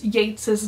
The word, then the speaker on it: Yeats: the way you pronounce Yates's name think great great gates great now let's go over some of the more important things Yeats saw himself as the